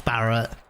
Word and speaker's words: Barret: Uh like a beret, like a you know, headband or whatever, but no, I can't, man. It's Barrett. It's got to be Barrett.